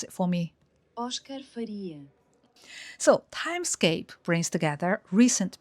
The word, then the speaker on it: Óscar Faria: I'm not sure if I pronounced it right, so let Google pronounce it for me. Oscar Faria.